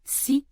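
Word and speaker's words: 四: Et c'est pour une raison simple, il se prononce si, c'est-à-dire de la même manière que le mot mort.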